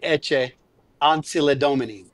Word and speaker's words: Ecce Ancilla Domini: going to say, Well, I was a classicist, and so I often give it the Ciceronian pronunciation, but the ecclesiastical Latin has the Italianate pronunciation, so it would probably be Ecce Ancilla Domini.